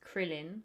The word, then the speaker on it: Krillin: This is like in Dragon Ball, like Krillin, but it's spelled like Karurin, but it's Krillin.